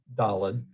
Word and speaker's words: Dalet: But anyway, Dalet is definitely correct with a T sound at the end, not a D sound, and it's clearly related to the word Dalet, which means door.